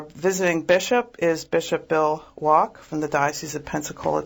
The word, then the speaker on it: Wack: thinking that named Bill wack well as for correcting me the last name is spelled up f-ck but it's a German pronunciation apparently so it's bishop bill